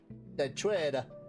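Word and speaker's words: 대취타: The W is silent.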